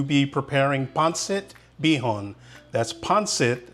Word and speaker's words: pancit: are going to be preparing ponit beon that's ponit not pansit I hear a lot of you out there saying pansit but it's pronounced panit this is a dish that can be enjoyed